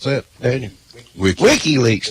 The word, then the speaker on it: WikiLeaks: did last night what he how do you pronounce that Danel wik Wikileaks not wiky leaks oh well he ran for an office a